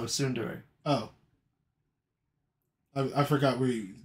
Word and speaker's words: tsundere: Standere. No, tsundere.